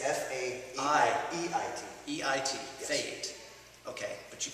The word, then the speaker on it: Faeit: So Faeit is how you say it. Yes. But it's spelled F-A-I-E-T. I believe, and I should know it. It's Faeit. It's F-A-E-I-T. E-I-T. Yes. Faeit.